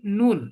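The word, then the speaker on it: نون: নুন। এটা কি? এটা বলে নুন নুন। এর নুন উচ্চারণটা কি হয় বাংলাতে? নয়ের মতো। বাংলাতে নয়ের মতো, দন্তান্ন। দন্তন্য, দন্তন্য, ঠিক আছে?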